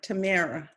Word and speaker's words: Tamara: I'm sorry, Tamara. Her name rhymes with Sarah.